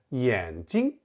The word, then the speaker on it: 眼睛: 眼镜 and 眼睛 only differ by one tone, and 镜 should be a high neutral tone, 眼睛, because the preceding syllable is in the third tone.